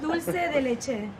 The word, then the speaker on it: dulce de leche: Because I feel like Argentinians pronounce it dulce. Dulce. Dulce, yeah. Dulce. But like, I can't say it like I can that. do Rick's accent. Dulce. But no, it's dulce de leche.